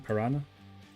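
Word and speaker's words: Paraná: Like piranha, like the fish? I know it's spelled different, but it sounds the same. Parana.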